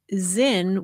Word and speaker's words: Sinn: And you explain that the word Sinn, which is spelled capital S I N N, uh, is pronounced as though the S were a Z and is the German